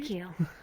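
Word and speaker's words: Qi: and I lost her call me ke fisher woman ke you know that make sense SP as though the part of a boat way she was embracing you you know pronounced that way spelled q i it's supposed to mean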